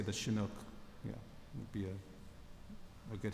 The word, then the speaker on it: Chinook: How do you pronounce it? It's a kind of Good one. Yes, it's a it's a transport Chinook?